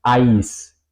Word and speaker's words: Eis: Eso sería ai en alemán. Ai, ¿ok? Ai. Como por ejemplo en Eis o en Kreis. Eis, helado o hielo.